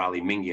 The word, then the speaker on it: Menzies: I don't know if you know Ali Menzies or Ali Mingi, as it's pronounced in Escosh.